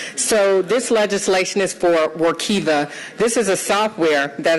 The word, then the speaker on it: Workiva: that i have so this legislation is for workiva this is a software that is correct pronunciation i was dared to say it the